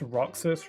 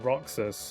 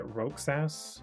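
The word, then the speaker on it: Roxas: Um, but um, so he knows his name but he pronounced his name wrong. He pronounced it like Rogass or something like that or Roas.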